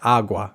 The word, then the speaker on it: agua: El sonido se vuelve tan débil que casi desaparece por completo. Nada por debajo del agua. Muchas cosas debajo del agua pasan.